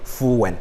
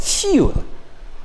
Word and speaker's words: fuel: fuel is one syllable that sometimes we here will say fuen it is not full but fuel it's one syllable now while the word